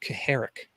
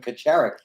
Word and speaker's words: Kacharik: Brian, I think it's pronounced Kaharik. I think someone told me that. Yes, you're right. It's the C is silent, but we were all calling them Kacharik for years.